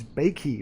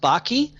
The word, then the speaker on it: Backe: last name is pronounced Bakke Bock right all right rhymes with hockey it's actually a German family name and everyone gets it